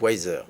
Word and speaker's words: YZR: toutes ces langues là ça s'appelle weezer y z ça se prononce wiseur y zr voilà pourquoi because wiseur